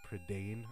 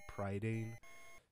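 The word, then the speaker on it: Prydain: Cauldron and evil rules I think it's pronounced predan I've been pronouncing it pridan this whole time because that's just how I was used to reading it when I was a kid but I remember seeing the movie I think they pronounced it predan but I don't know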